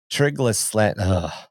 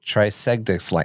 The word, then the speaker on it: Trigedasleng: and possibly kind of the nerdiest, which is Trigedasleng. I I had this Trigedasleng? Trigedasleng? I said the Yes, Trigedasleng.